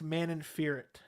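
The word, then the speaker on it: Manon Fiorot: to pronounce the name i think it's man in fear it is how you pronounce it uh but i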